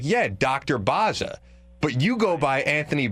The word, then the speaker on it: Bozza: But really, in Italian, it's Bozza. So to me, it should be Bozza.